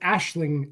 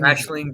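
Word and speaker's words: Aisling: I believe is her name I learn it's pronounced Ashling Ashling Ashling B very very good I'd not seen H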